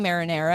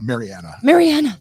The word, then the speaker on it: Mariana: Because my brain is saying marinara and I cannot unsee it. I see why you got that. Mariana.